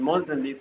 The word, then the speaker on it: Mozambique: Like, what are some of your visions, maybe for Mozambicans? Is that how you say it? Mozambicans in missions. Mozambique, but you can say Mozambique.